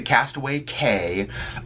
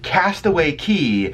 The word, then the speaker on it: Castaway Cay: of people pronounce it Castaway Cay just you know the words CA Y in the Bahamas is pronounced like key ke Y so it is castaway key or go get breakfast